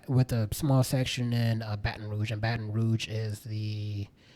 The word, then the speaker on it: Baton Rouge: um boston rouge um not the boston rush i pronounced it wrong um the by the block um was for baton rouge which is um in